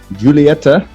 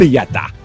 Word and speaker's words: Julieta: I am smoking the Romeo and Julieta, 1875. Julieta. I know, but I'm white and American, so I pronounce that J very, very nice.